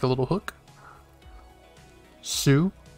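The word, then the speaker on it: す: loop because a kid flew off of it pronounced sue next up is the fancy bird again that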